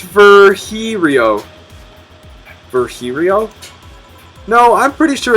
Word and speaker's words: Virgilio: You look winded, Virgilio. It's pronounced Virgilio.